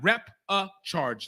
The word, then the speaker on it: repechage: Repechage, like charge as in you charge into a fight.